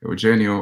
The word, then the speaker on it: Eugen: I'm Eugene, or Eugen, or Eugen, or Eugenio, or depending on which side of the planet you're from, you can pronounce it different ways.